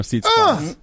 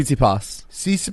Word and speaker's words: Tsitsipas: Yeah, 2 sets to love to Stefano Tsitsipas. Who's the next up and comer, right? He's one of the. How do you say his name? Tsitsipas.